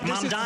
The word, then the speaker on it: Mamdani: Mamdani's right. He's never done anything, period. Mr. Mamdani. This is a man who Mamdani. Just say the name right, Mamdani.